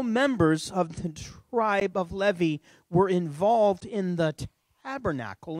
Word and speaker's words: Levi: to miss it now the tribe of levi which in hebrew is really pronounced levy okay the tribe of levy worse at up art